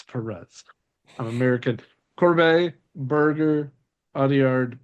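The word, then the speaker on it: Pérez: The accent is on the first E, so it's Perez. Perez. I can't. Not Paris.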